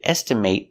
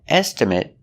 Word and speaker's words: estimate: next example is estimate estimate is the pronunciation when it's a verb example I need to estimate the cost of the job with the long a estimate but if it's